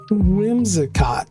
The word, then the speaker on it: Whimsicott: Do I redo this a third time or do I leave in that I can't pronounce its name? Whimsicott.